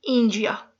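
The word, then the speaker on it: Índia: इंडिया को Portuguese में इंजिया, इंजिया, एन का साउंड प्रोड्यूस नहीं होता, इंजिया।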